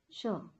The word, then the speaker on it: sure: Sure. Sir. Not sir.